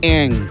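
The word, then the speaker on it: Aang: nga natutuwa ako kay Ang. Si Ang. Si Ang Okay. double A. Oo, na ang bigkas kasi nga slang Eng. Wala naman itulong yung isang A niya dun.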